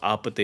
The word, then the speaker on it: APT.: APT Bruno Mars featuring Rose, but it's it's pronounced Apate.